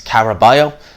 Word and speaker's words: Caraballo: So Shakur Stevenson knocks out Felix Caraballo, that's how you pronounce it, in the 6th round.